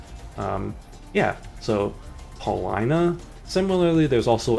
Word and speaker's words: Paulina: P A U L I N A. You would think, oh, Paulina, right? You know, that's obviously makes sense. You know, Paulina, that's a name sometimes and it's just like,